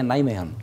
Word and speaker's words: Nijmegen: di Belanda deenay Hai nijmegen tulisannya V bacanya nilai mean apa yang Anda tawarkan